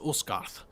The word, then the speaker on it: Asgard: So Asgard, you're referring to the Yes. Nine Realms. Yeah, actually in Old Norse that would have been pronounced Usgarth.